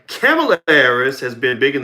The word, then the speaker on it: Kamala: Kamala Harris has been big in the news after the most recent debate.